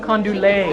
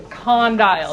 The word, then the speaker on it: condyle: you pronounce it oh condu lay of course condulay con delay okay so we say condyle that's how you pronounce it okay all right